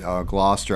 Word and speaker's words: Gloucester: yeah yeah right so I got it right Gloucester I remember now that uh Don butchered his wife and told me that that's